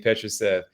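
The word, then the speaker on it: Petrušev: that we've talked about in the past Philippe petrucev and I always I have we have to check yourself Petra said it's all good the pronunciation of his name Petra Seth uh three potentially four big men behind Joel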